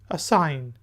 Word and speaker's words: assign: Spelling ہوتے ہیں ASSIGN assign۔ اس میں جی جو ہے سائلنٹ ہے، assign۔ assign کا میننگ ہوتا